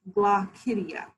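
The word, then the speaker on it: glochidia: fun word here uh and it it is pronounced glossidia i'm going to say it one more time glock hydia and glaucidia are the baby muscles that they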